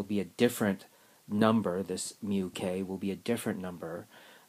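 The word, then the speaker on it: μk: or the coefficient of kinetic friction and that's pronounced mu k interestingly enough the sliding friction only depends on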